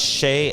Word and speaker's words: Chez: shade on tay um it's pronounced Shea and not chess I know a lot